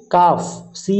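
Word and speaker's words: calf: তারপরে আছে এ কাফি এফ। এটার উচ্চারণ হবে কাফ।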